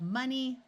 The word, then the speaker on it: money: In these three words, the O is going to schwa and sound like a short U. So we have money, honey, and monkey.